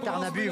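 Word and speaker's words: Tärnaby: juste la petite explication vous dites tarnabu vous avez bien raison parce qu'en suédois n'est-ce pas Luc alfond le y se prononce u comme bugm bu d'ailleurs ça veut dire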